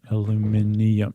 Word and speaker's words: aluminium: Right, but they're they're really saying aluminium, but they're just they're British, so they're saying aluminium. would be an extra I after the N. Alumin- aluminium.